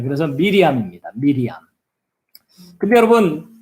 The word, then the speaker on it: 미리암: 요거 읽으면 마리아라는 발음이 아니고요. 미리암입니다. 그러니까 마리아라는 이름의 원래 이름이 미리암이에요. 성경에 나오는 첫 번째 미리암은 누구죠?